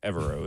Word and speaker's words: Evero: Evero is how you say his last name.